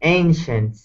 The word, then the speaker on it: ancient: Not ancient but ancient. It's like an a sound. Okay. Ancient.